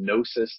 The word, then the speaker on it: Gnosis: I have a website it's called nosis therapy yeah it's a silent G right so it's GN